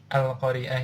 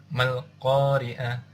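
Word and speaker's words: القارعة: ini ada di depan dibacanya al-qoriah tapi ketika Anda di tengah maka alifnya ini nggak dibaca jadi langsung masuk ke lamnya ini Jadi Mal Qoriah seperti itu ini di ayat di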